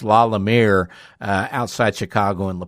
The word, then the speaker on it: La Lumiere: We were saying La Lumiere. We were adding extra syllables in there with the using ring, but it's La Lumiere uh outside Chicago in La Porte, Indiana.